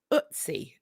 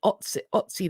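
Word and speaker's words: Ötzi: uh more news about utsi is it how I believe it's pronounced I apologize if I um incorrect about that but I believe it's it's otsi the Iceman they have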